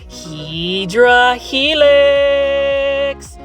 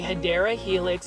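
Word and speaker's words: Hedera helix: what you call a hadera helix English IV that's the correct way to say is hadera Helix but for some reason my plan Fage you guys like it when I say hedra Helix so all I'm going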